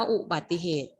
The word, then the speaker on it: อุบัติเหตุ: ดู คำ ว่า อุบัติเหตุ มี อะไร ที่ ไม่ ออก เสียง คะ มาก เลย นะ คะ เสียง สระอุ ถ้า นัก เรียน อาจ ออก เสียง สระอุ ด้วย อ่าน ว่า อุบัติเหตุ อุ ซึ่ง ผิด คะ ซึ่ง ผิด ใช่ ไหม ลูก ผิด นะ คะ อ่าน ว่า